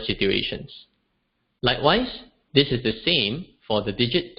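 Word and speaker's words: 三: 3 is pronounced as sa, sa.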